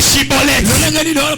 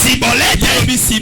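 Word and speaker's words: שיבולת: Comment tu dis Chibolette? Lui dit Cibolette. Non, il mérite mourir. Chibolette, non, c'est mon frère.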